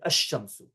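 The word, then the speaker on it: الشمس: Instead, the solar letter is pronounced with a tashdid, ash-shamsu.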